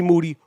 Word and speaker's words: Moody: kanye west than g moody whose last name rhymes with duty like you like him